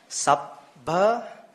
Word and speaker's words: sabba: Sabba, when we have a double consonant, both are audible.